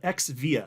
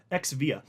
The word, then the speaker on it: xVia: they had a branding called Xvia XVA is how you spell it Xvia and it was the